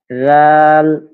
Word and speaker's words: ذال: এটা অনেকটা নরম করে উচ্চারণ করতে হবে। হ্যাঁ, ذال, ذال, ذال।